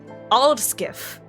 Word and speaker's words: Aldskiff: For example, Aldskiff. Yeah, try saying that 5 times fast. Aldskiff, which is spelled AHLDSKYF, is a combination of ald meaning old and skyf meaning ship.